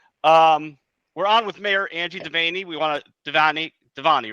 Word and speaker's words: Devanney: It's like Devanney, like Fanny. Liza hates it when I say that, but that's what it rhymes with. Devanney, like Fanny.